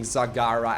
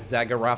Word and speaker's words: Zagara: stream by the way pronouncing Sagara as Zagora for a while my evil plan it's been going very well it's not very evil it's just fun to see people get very upset over over me on purpose mispronouncing your name some people are very